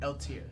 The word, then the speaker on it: Eiltir: Eltier. Spell that. EILTIR. With a EILTIR. silent I. So LTR. Is a. He's a human? Spell his name again. EILTIR. But the I is silent, so it's just LTR.